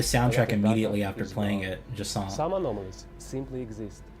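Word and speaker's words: Jusant: It's French, so I believe Jasant, like you don't pronounce the T, Jasant.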